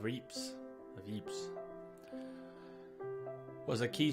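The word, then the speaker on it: Ypres: gas is already here dubbed wipers by British troops due to its difficult pronunciation the Belgian town of Eeps of Eeps was a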